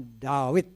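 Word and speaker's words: דוד: David ya karena uh huruf Waw itu bisa dibaca V bisa dibaca wae kalau dulu dibacanya Wei sekarang dibacanya free jadi bisa David bisa dawit tapi umumnya orang Ibrani memang bacanya dawid ya hai hai kita mengucap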